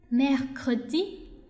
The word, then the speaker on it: mercredi: 就会一样的运用自如啊，mardi mardi， OK，星期三，mercredi mercredi，好，这个发音有